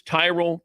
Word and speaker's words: Tyrol: It's Tyrell pickleball shoes. You spell it Tyrol.